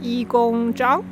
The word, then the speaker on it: Yigong Zhang: spirit um hi i'm my chinese name pronounced as yi gong zhang actually is just my nickname i work